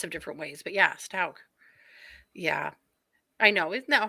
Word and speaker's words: Stauch: Also, we've been saying her last name wrong this whole time. It's Stauch. Stauch, yeah.